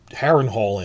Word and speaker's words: Harrenhal: The stress in Welsh words is usually on the second syllable, not the first syllable. So the name of the big quarry set they built Harrenhal in is Dinorwig.